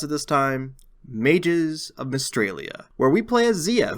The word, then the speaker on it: Mystralia: Today we'll be talking about Mages of Australia. No, wait, I learned how to pronounce it this time. Mages of Mystralia, where we play as Zia, who kills her